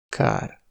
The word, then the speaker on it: kár: La longueur des voyelles est très importante, comparez : örült (il s’est réjoui), őrült (fou) ; kar (bras), kár (dommage) ; Eger (le nom d’une ville), egér (souris).